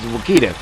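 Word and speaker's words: Wichita: wood in the Saga if you look up how to correctly pronounce it it is Wakita so don't laugh at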